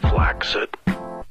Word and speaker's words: flaccid: word flaccid is actually pronounced flaxit with a hard C ironically today's mission leave